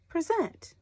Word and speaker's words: present: present present or present if the emphasis is on the second syllable then this word is present present present so does